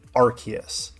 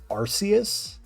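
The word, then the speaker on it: Arceus: man on campus archus now I pronounce it archus but I know other people pronounce it as arus so I don't know which one is correct in reality if we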